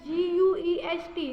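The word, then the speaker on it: guest: को गैस कहेंगे गैस उसके बाद गेस्ट मतलब गैस हमारे घर गेस्ट आते हैं तो इसमें भी यू साइलेंट है और गार्जियन इसमें भी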